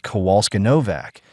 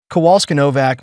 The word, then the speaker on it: Kowalski-Novak: You submitted documentation suggesting Ms. Kowalska-Novak." She mispronounced and then corrected herself. MS. Kowalski-Novak may have used company funds inappropriately.